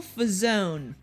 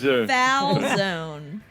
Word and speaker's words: Falzone: So not like a folded pizza then. No, Well, that's a he- calzone. Actually, it's spelled No, like but that it's with not an like F. No, yeah. Calzone but with an it's- F, like fucker.